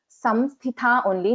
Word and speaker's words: Samsthita: What we are pronouncing here is m.